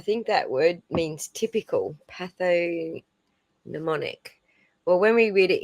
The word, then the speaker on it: pathognomonic: I think it's a silent G like gnome. Yeah. Thank you, Batty. Pathognomonic.